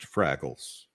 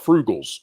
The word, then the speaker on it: Fraggles: it was devastating please it's pronounced fraggles oh I'm sorry they're definitely not Frugal because they don't know